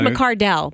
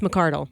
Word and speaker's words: McCardle: I almost said McCardell, but it's McCardle.